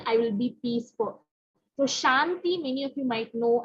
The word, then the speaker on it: Shanti: So Shanti, in Tamil it's Santi. So just, it's the same word, it's just sometimes the way that it's pronounced. So as Dr. said, the Sha sound is not there, so it's Sa, okay?